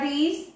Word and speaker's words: these: The pronunciation there, pay attention. These. Yes. Keys. Yes. It. La I larga. And then you have the short E. Yes. Pink. Green. Yes. You have the difference between the long and the short, yes? These, yes? Pay attention here. These, yes? And the pronunciation here is this, this, la y cortita, okay? So tenemos y larga y cortita.